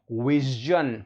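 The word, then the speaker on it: vision: सज, देखिए आधा स और ज, सज, विजन।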